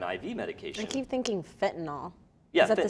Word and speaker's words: fentanyl: addicted to, I guess like pills basically, and then they have the fentanyl in the pills.